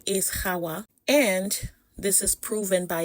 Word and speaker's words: Hawa: Okay, so her name is written H, A, W, A. That is Xawa in our ever modern Latin alphabet. And it is pronounced Hawa, Hawa. All right.